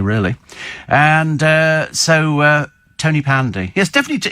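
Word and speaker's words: Tonypandy: be able to pronounce tony pandy not tony but ton as in pon ton um yeah whatever well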